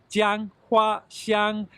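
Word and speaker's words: 姜花香: So it is 3 high tone, Jianghuaxiāng, and it means ginger flower fragrance.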